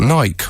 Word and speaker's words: Nike: three minutes 12 seconds you joke that nike will never rhyme with spiky according to their recent press statements this is in fact the pronunciation of the brand that the aforementioned company actually prefers harriet now i would